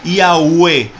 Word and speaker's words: Yahweh: ya v no ya ve bien entonces sería yagüe ahora porque nosotros decimos y yagüe se escribe aunque usted ve que se escribe ya